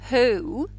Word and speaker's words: who: H, oo, who. The children love it. They get it because they know how to say the word who. It helps their phonemic awareness to know it is ooh.